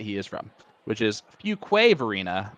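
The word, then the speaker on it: Fuquay-Varina: the chat uh automatically corrected me on the pronunciation of the city that he is from which is Fuquay Varina not few key Barina although I will be honest Alex I looked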